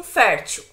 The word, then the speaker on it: fértil: A mesma coisa com fértil, fértil. Qual que é a sílaba mais forte? É a penúltima.